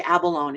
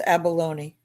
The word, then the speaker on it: abalone: Is that, I always say abalone. Is this do people pronounce that abalone E, like with the E? But it's mother of pearl. I always say abalone, but It's abalone.